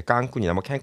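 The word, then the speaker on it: Cancún: 좀 생각을 하고 있습니다 자 미국에서 부르고 하지만 멕시코 발음은 깡꿍이라고 하죠 예 깡쿤이라고 사실 멕시코 안에 미국이라고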